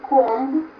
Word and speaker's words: comb: It is a comb. We pronounce it comb. Yeah, very cool, comb. Comb.